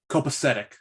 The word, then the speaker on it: copacetic: Copacetic.